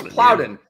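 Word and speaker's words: Daequan Plowden: He's correcting me on the pronunciation of Daycoin Ploudin. This guy, this guy, he doesn't miss Bitb. That's my new nickname for Andre, dude. BITB Daycoin Ploudin Ploudin. No, it's Ploudin.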